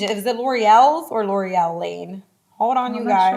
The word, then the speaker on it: Loriel: It's so crazy because the business name is just the pronunciation, like the breakdown, L'Oreal. And then I broke free from that because that was just a phase in my life where now I changed to my government, L'Oreal, LORIEL. Okay. With the correct spelling, not the pronunciation, because I'm owning who I am.